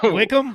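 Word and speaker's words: Wycombe: Isn't it called Isn't it called like Wickham or something like that? Oh my god. You're right. That is how they pronounce it.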